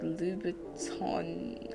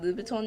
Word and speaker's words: Louboutin: I should have given her those Louboutin, I think that's how you say it, Louboutin nails, plus the pink and the red.